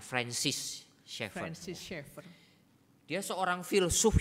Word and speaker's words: Francis Schaeffer: Edith Schaeffer， Dia adalah istri dari François Schaeffer. 那么他是芬舒尔 Schaeffer 的这个妻子 Kita biasanya bacanya Francis Schaeffer.